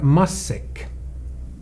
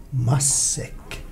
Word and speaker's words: matsäck: Och ordet matsäck, i Sverige är det stumt, så de säger massäck. Massäck.